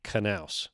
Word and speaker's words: Knous: one of the starters, found out the pronunciation of my name, Knous, the hard K.